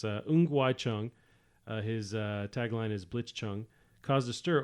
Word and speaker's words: Ng Wai Chung: So I'm going to pronounce the name the right way. So it's Ng Wai Chung.